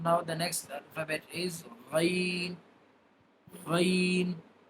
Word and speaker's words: غ: So now the next alphabet is Ghain. Ghain. Ghain will be pronounced by the upper end of our throat.